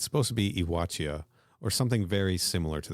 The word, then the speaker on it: Yautja: The pronunciation of that is supposed to be something close to Iwatia. All right. But every audiobook says Yautja.